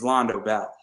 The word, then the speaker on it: Londo Bell: And people will ask you if you are Earth Federation, because remember, in Char's Counterattack, it's Londo Bell. And yes, it rhymes with Taco Bell.